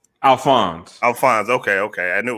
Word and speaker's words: Alphonse: man uh first of all give me the pronunciation of your first name alphonse alfonse okay okay i knew it was kind of